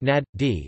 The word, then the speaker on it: Najd: Najd or Najd Arabic, Enj pronounced Nad-D, is a geographical central region of Saudi Arabia